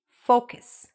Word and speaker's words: focus: need to focus okay say it after me focus be careful how you pronounce this word because otherwise it can sound improper all right I need